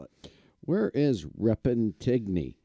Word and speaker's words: Repentigny: Where is Repentigny? It's if you keep going past. Say it again the way you said it. Repentigny.